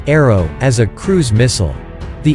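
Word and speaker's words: ARRW: describing AR AR w which is pronounced arrow as a cruise missile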